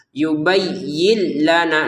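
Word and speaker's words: يُبَيِّن لَنَا: Nun sukunnya kita baca awalnya. yubayyin yin yin yin gitu kan jelas dibacanya jelas karena di depannya ada lam maka kita masukin nun sukun ini ke lam sehingga cara bacanya bukan yubayyin lagi tapi yubayyil ya yubay yubayyil jadi yubayyilana mai perhatikan di sini tulisannya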